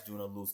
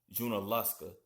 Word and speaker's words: Junaluska: I was mispronouncing it as Junalooa. It's correctly pronounced Junalusa.